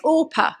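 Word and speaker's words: Orpah: Oprah Winfrey's birth certificate her name is oppa and she was named after oppa in the story of Ruth but her parents actually just pronounced her name wrong so yeah so Oprah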